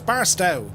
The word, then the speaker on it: Barstow: I always pronounce this place wrong, but it's Barstow.